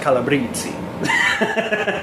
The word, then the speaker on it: Calabrese: Yeah, and I mean, I think it's interesting because I remember it's actually pronounced Calabrese. They're Italian, so.